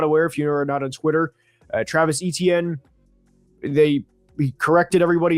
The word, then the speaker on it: Etienne: If you are not aware, if you are not on Twitter, Travis Etienne, he corrected everybody. His name is pronounced Travis Achan.